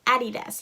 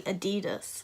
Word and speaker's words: Adidas: Why do y'all say Adidas? Like, it's Adidas. Like, Adidas.